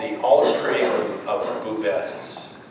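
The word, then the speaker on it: Bouves: V as in Victor, O-U-V-E-S, and it's pronounced Bubes.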